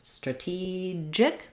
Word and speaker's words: strategic: for that as well so for straw we have um second syllable stress so the letter a is gonna sound like a schwa straw and then letter e is this tense e sound strategic the letter G says the J sound um and then for